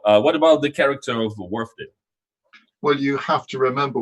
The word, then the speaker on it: Wharfedale: Peter, how do you actually properly pronounce the name of this brand? Wharfedale? Wharfedale, yes. Wharfedale.